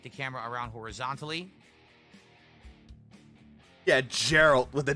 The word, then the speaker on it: Geralt: Geralt. Geralt of Rivia, not Geralt.